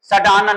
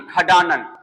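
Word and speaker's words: षडानन: सडानन नहीं, खडानन, षटकोण नहीं, खटकोण।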